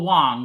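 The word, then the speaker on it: Hwang: is what um bill it's Bill Bill Wong right Bill Bill Wong not a bill it's spelled weirdly HW something like that yeah HW and you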